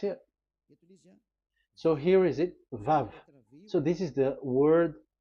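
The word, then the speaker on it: וָו: We called it as VAV. VAV. Your mouth is like closed. VAV. So it's V as in Vogue.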